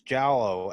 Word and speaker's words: giallo: So, is it Giallo or Giallo? I never know how to pronounce it. It's Giallo, and Giallo, essentially, the Giallo film, its intention is to frighten while sickening.